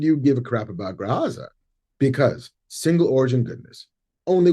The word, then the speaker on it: Graza: Well, in the next episodes of Andor, Andor cooks dinner, which might be a good time to let Cassie know about Gratza. Graza.